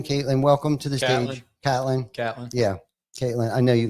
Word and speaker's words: Catlin: are watching right now, I apologize for Ty calling us Caitlin, but that's all right. No doubt. I do know a Jim Caitlin, spelled with a K though. Spelled the same exact way. Yeah. But they spell it with a K. I know it's Catlin.